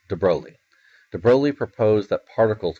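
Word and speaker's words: de Broglie: crazy Lou de broi and then it's how pronounced it's not de brogi de brog it's de broi de broi proposed that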